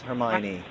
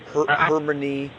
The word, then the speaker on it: Hermione: and people were like oh that's how you pronounce hermione how did you think you pronounced it i pronounced it hermione from the beginning uh everyone thought it was like harmony or harmony or something like that sounds reasonable